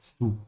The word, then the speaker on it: zu: For everybody, I want to use this very short sentence to remind everybody that the Z sound in German is pronounced like a TS sound, like zu.